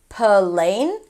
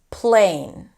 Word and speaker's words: plane: For example, plane, p-l. It's not plane, plane.